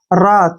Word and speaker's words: wrath: ठीक है ना, RA का उच्चारण रा करेंगे, TH का थ। रात क्या बन गया? रात। रात मीन होता है क्रोध।